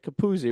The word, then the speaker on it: Capozzi: us today Kenny kzi say you say that capuzzi right fing come on what is it how